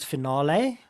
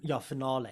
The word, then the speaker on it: Finale: And then there's another one which is very similar to Sibelius, which is called Finale. Okay, FINALE with a it's FINALE. Finale, like final with Yes, so that's the other one, also very good.